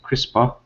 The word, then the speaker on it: CRISPR: Nevertheless, researchers at Harvard Medical School in Cambridge, Massachusetts have attempted to use the CRISPR, pronounced CRISPR, gene editing technique on human